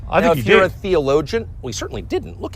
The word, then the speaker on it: theologian: Theologian. Let's pronounce it together. Theologian. Theologian. So we don't say theologian, we just say gen.